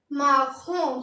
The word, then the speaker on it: marron: तो ब्राउन को हम लिखते हैं MARRON और इसको पढ़ेंगे हम, इसकी प्रोनाउंसिएशन होती है MAHRAHN। तो इसको पढ़ेंगे क्या? इसको पढ़ेंगे हम माखों।